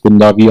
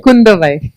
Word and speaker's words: Kundavai: So obviously you're playing Princess Kundavi. I hope I got the pronunciation right. Kundavai. Oh, Kundavai. I'm so sorry for that.